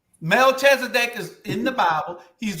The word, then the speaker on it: Melchizedek: You don't have a good pronunciation, so I can. It's Melchizedek. Melchizedek.